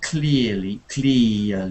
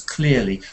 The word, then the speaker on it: clearly: Clearly is like ear. It's not E, clearly. It's not clearly, it's clearly. We call that, starts off with an E, early. It's like a diphthong sound. It's one sound, it just slips. Clearly, like ear.